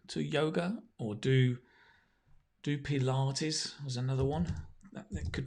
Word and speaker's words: Pilates: exercise or workout pilates it's interesting how we pronounce that right for ages i thought it was pilots what are you doing mum you're doing pilots no keith i'm doing pedal artis oh pilates right um you know there's